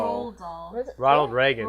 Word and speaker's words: Roald Dahl: no, I was just gonna say, I don't think Ronald Dahl made... Roald Dahl. Roll doll.